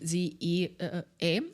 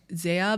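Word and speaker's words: ZE:A: So literally ZEA, or like some people call it Zaya, but like no, but there's a lot of mispronunciations and pronunciations.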